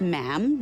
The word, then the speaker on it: ma'am: For instance, when you're addressing the Queen, she is Her Majesty, and after that it's just ma'am, rhymes with jam.